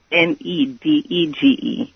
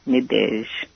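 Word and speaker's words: Nadège: Nedege. Nadej. Nadej, how beautiful. French? Yes. It's a French name, Nadej.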